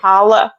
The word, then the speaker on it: challah: challah. I think the C is silent, but they Oh, usually okay, braid them.